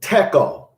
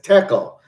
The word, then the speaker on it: tekel: And it's spelled T-E-H-E-L-E. This is the word tekel. This is a Hebrew word. It says tekel.